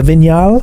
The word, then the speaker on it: Vignale: The titanium, the ST line, and the Vignale, I think. The Vignale. So I was saying it wrong on holiday.